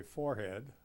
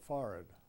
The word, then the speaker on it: forehead: on pronunciation and I remember learning to say foreign you didn't say forehead you said for it which seemed to me